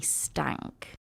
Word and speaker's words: Steinke: year old Jeremy and I promise you this is how his surname is pronounced even though it is not written like this his name is Jeremy stank and he was one